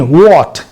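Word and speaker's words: what: अक्सर लोग बोल देते हैं बाट, नहीं व्हाट, सही प्रोनाउंसिएशन व्हाट।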